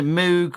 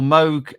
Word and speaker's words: Moog: go right boom um so Moog or Moog if you like to pronounce it if um produced the mugafuga see this is something that I could never understand because it should be Moog it's not Moga figure